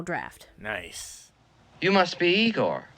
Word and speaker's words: Igor: nice you must be Igor now it's pronounced Igor but they told me it was Igor well they were wrong